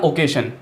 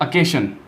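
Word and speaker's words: occasion: उसके बाद है अपना ओकेशन, ठीक है ओकेशन यानी कोई अवसर होता है, उसको कैसे प्रोनाउंस करना है, उसको करना है अकेशन, अकेशन, ठीक है।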